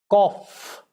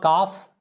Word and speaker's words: cough: Cough, it's cough, fur. It's not GH. Cough. It's not calf, it's cough. Caw, aw, cough. It's not calf. Caw, cough. Cough.